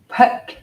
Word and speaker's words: phaṭ: very powerful seed syllable p i want you to learn this because it's a very cool tool it's an ancient seed syllable p h a t with a dot under the T so it's and it